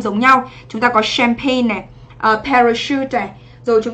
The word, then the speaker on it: champagne: Thì chúng ta thấy là cái SH này nó không đọc là chờ mà nó đọc là sugar. Và chúng ta sẽ đọc là champagne, đúng không? Từ này trọng âm sẽ dẫn tới thứ hai. Và mình đọc là champagne, trọng âm 1. À quên, trọng âm 2, âm sure.